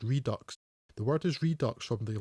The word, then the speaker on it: Redux: a 49 minute longer version and Apocalypse Now redock is debatable but he this could have been